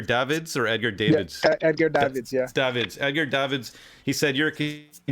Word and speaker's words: Edgar Davids: And let me know if I'm pronouncing his name right. Is it Edgar Davids or Edgar Davids? Yeah, Edgar Davids, yeah.